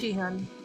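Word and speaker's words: Sihyeon: It's spelled without a H, but I mean, you pronounce it like Shihyun. I don't know why it's like that. Oh yeah. The way they spell it is SIH, but you're saying the H should be before the I, basically, in the pronunciation. It should be Shiyon. like 2 H's.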